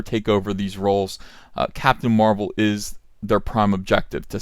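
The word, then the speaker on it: Mar-Vell: would be playing Captain Marvel and I'm gonna call him marvel just to differentiate him from Captain Marvel brie Larson Captain Marvel which is spelled ma R - ve ll there it is on the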